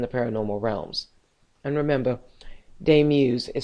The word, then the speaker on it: Daemuse: And remember, de muse is spelled d a mu s e.